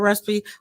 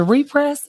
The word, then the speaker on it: Repress: As soon as it'd be like, and then Cordell, shout out to Cordell, Cordell Recipe. What did I say it right? No. Is it repress? Repress, like yes, Cordell Repress.